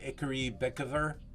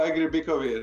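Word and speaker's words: Egri Bikavér: Any Icarus Bekover? Is that how you pronounce it? Oh, Agri Bikovir, yes.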